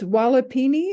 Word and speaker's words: walipini: about the greenhouse this it's walipini is that how you say it yes all right and I